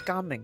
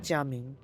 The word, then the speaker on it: Gaming: So in fact you should be pronouncing as gaming actually rather rather than jaming right because that that's a Mandarin pronunciation. This one's Cantonese, so gaming is the proper one.